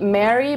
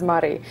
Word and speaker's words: Mary: a city called Mari many of you probably have seen it and call it Mary but we actually pronounce it as Mari Murph is located about